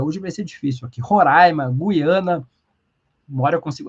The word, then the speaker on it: Roraima: Eh, a Maria Assi Façanha diz: "Roraima se pronuncia como se tivesse acento agudo no ar". Eh, hoje vai ser difícil aqui. Roraima, Guiana.